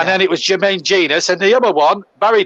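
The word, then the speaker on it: Jenas: remember, one was Jermaine Genius. A lot of people, when he broke into that Forest team at 17, used to say Genus. Yeah. And then it was Jermaine Genius.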